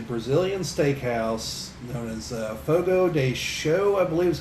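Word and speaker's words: Fogo de Chão: steakhouse known as uh fogo day show i believe is how you're supposed to pronounce it but it looks like it's ciao but i believe it's pronounced show or something to that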